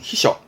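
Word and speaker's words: 避暑: 발음은 히셔.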